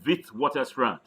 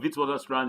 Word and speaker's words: Witwatersrand: PhD from University of Witwatersrand. That's one of the leading universities in Africa. Mind how I pronounced it, University of the Wit. It's as if you're pronouncing a V, not wit.